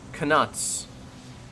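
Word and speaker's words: Knuts: nuts it is pronounced canuts with the hard k i felt like that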